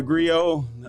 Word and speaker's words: griot: way to being a griot and by the way it's pronounced grio it's spelled g-r-i-o-t now if you speak english it's griot but if you use the french pronunciation which is where the